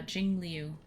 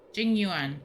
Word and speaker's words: Jing Yuan: that one was uh Jing Leu the one with the the moon Motif ah ice lady yeah okay yeah teacher of jingu I'm saying it wrong Jing Yuan there we go I'm getting confused see